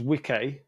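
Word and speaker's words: wicce: a bit later so the old English was wik which is spelled uh W CCE and then the old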